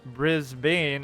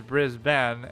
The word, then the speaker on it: Brisbane: and can Bara uh Brisbane is brisben and Melbourne is Mel burn like I'm not even going by like some sort of Americanized pronunciation it's literally how it's written if you were to read it properly phonetically right bris Bane is written Brisbane and melbourn is written like the born identity yeah I always knew